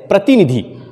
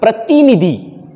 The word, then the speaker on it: प्रतिनिधि: शब्द का सही उच्चारण प्रतिनिधि। प्र त में छोटी ई की मात्रा, न में छोटी ई की मात्रा, प्रतिनि और धी आखिरी शब्द है तो ये ध में बड़ी ई की मात्रा होनी चाहिए।